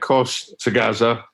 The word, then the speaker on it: Khoshtaghaza: your surname Casta Gaza it's quite easy if you break it down so yeah it cost to Gaza it makes it quite easy it's probably pronounced as a little bit slightly different than that but it's the easiest way of kind of pronouncing it and remembering it right when I first got